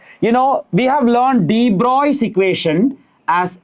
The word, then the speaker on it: de Broglie: We write it as de Broglie, we pronounce it as de Broglie.